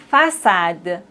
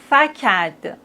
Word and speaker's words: façade: maintenant avec cille ça ka sa français garçon façade déçu. Mais s'il n'y a pas de CD on doit les prononcer comme ça. Franqu facade mais on a la CD donc on doit dire français garçon. Façade déçu.